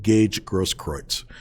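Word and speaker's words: Gaige Grosskreutz: that's no surprise but at any rate it's gage grosskroyd's and the reason why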